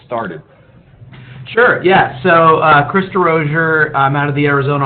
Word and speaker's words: DeRozier: your last name, but DeRozier is how it's pronounced in the United States. That's not the French pronunciation, correct? That's right, yes. Well done. Give us the French pronunciation real quick. DeRozier, yes.